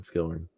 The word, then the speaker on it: Skelhorn: learn about the the origins of uh Skillman is actually the pronunciation there oh thank you that's good too